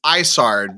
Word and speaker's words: Isard: I've always said Isani, and then it's Isard because it's supposed to sound like Ice Heart.